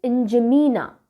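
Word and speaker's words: N'Djamena: सो the country is Chad, okay, Chad and the capital is इंजमीना। इंजमीना, D silent है, इंजमीना, this is हाउ we pronounce it.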